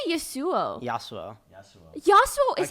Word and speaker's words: Yassuo: say Yu yasu Yu yasu is how you pronounce it without the S what are you going to say Yu yasu yasu like the champion but with two s's instead of one also known as Mo